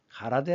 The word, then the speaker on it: 가라데: 하는 그런 뜻이죠 그래서 일본의이 공수도를 일본 발음으로는 가라데 아고 하죠 그다음 공수표를 남발한다